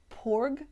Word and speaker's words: porg: information about the word porg which to us was spelt p-o-r-g but the pronunciation is same as the p-a-w-g which is in the